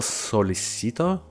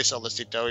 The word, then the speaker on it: Sollecito: If it was in Spanish, technically it's like Sollecito, but because of the double L. But in Italian, it's different. But yeah, let's just say Sollecito, even though I've seen